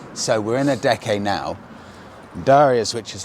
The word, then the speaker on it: Adeje: It's actually pronounced Adeje. So we're in Adeje now.